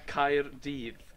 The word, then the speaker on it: Caerdydd: No, Caerdydd.